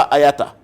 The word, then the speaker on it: IATA: que nous appelons Hayata Ayata c'est IATA en anglais il prononce ça Ayata international agent l'Association internationale